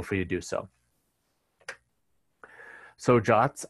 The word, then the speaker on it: JWT: to do so so jots are a uh web standard they are pronounced jot and it stands for